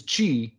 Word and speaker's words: Qi: q y or uh that it's actually pronounced chi the chi standard came